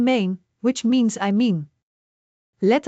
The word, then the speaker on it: meen: A is a long e sound like in main which means I mean let us break it down main.